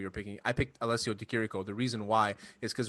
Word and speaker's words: Di Chirico: But then we had, which was crazy to me, Deshrilio, or how do you say it? Di Chirico? How does he say it? That Italian. Alessio Di Chirico. Yeah. DeChirico, that's it.